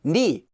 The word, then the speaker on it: 네: However, since this would sound the same as 내, meaning my, this word is actually more often pronounced as 니, although it's still spelled as usual.